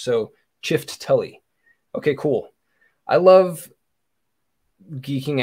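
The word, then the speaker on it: Çifteli: So the C in Ciftelli is pronounced ch as in church. So Ciftelli.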